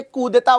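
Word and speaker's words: coup d'état: यस, आगे बढ़ते हुए सबसे पहले मैं आपको ये कूदेता वर्ड समझा देता हूं, क्योंकि म्यांमार में 1 फरवरी से यही लागू हुआ है।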